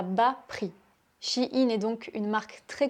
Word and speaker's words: Shein: Je ne sais pas si tu connais la marque de fast fashion Shein. Je ne sais pas comment prononcer cette marque chinoise. En France, on dit shein.